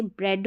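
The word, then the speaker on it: bread: other में देखेंगे हम ई ए को भी ए पढ़ेंगे जैसे ब्रेड हो गया आई ई को भी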